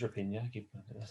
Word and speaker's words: Raphinha: Raphinha, it is Raphinha. Raphinha, pronunciation.